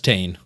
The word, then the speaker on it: Tane: Oh yeah, that's Tane. Crazy man himself. Spelled like Wayne, but with a T.